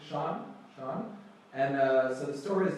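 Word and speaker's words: 山: And because it's a turtle, we pronounce it shan. So Awesome, well done. And the link word was shanty town for like the district, right?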